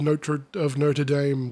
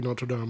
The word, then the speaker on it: Notre Dame: The lunch sack of Notre Dame, which should be Notre Dame, I'm sorry. I've been American pilled. I'm pronouncing everything the wrong way. Notre Dame.